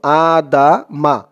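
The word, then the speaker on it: آدم: আদাম এখানে উচ্চারণটা ছিল আদা মা আদামা এমন উচ্চারণ ছিল কিন্তু এই চিহ্ন হতে অকফ করার কারণে মিমের উপরে জবরটা সাকিন হয়ে যাবে উচ্চারণ হবে আদাম দালের উপরে জবর দিয়ে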